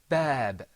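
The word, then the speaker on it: باب: Bab. Repeat after me. Bab. Bab. Bab. Bab. Pull the corners of your mouth back when you're pronouncing that bat sound.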